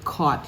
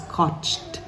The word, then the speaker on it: caught: such trouble with the word caught she says caught those three letters g u g h can be replaced in your mind with a W and just easily say caught in adultery now in verse 1